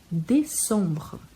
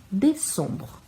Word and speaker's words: décembre: Décembre. O primeiro E bem pronunciado porque tem um acento. O EM que tem som de ON e o E no final que não é pronunciado. Décembre.